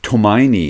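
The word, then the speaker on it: Tomine: nerve number two Adrian I think tomion is how you say his last name I've heard I'm not 100% sure that's how I've heard it uh said though this is an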